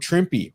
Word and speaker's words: Trimpe: And they have Herb Trimpe, rhymes with Shrimpy.